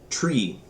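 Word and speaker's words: three: with the W 2 tree again why don't we just say 3 that th does different things in different languages so we're gonna pronounce it like the thing growing outside it's a tree flower 5 6 7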